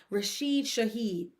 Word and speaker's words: Rashid Shaheed: to me is the Saints getting rid of Rashid Shaheed.